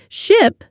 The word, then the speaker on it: ship: Ship has a short sound I like in hit or sit.